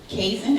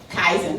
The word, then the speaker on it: Kaizen: specialist, mentor, coach, and founder of Kaisen. Am I saying it right? Kaizen. Nope, didn't say it right.